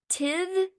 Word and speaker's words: Tithe: I know I've read Teeth, Tithe, Tithe, however you pronounce that.